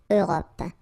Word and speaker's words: Europe: Remember this final it's not really present. It only gives you the possibility to pronounce this P at the end, okay? Europe.